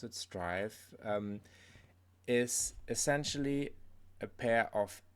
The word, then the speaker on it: Striv: So Striv, actually without an E, so I would have pronounced it Striv, but they pronounce it Striv, is essentially a pair of insoles with an